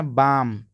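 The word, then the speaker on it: balm: वक पढ़ते वक और इसको पढ़ते है बाम झंडू बाम होता है तो कुछ लोग बालम पढ़ते हैं इसको बालम नहीं पढ़ना है बाम पढ़ना है झंडू बाम दोस्तों अब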